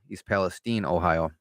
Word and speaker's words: East Palestine: East Palestine, Ohio.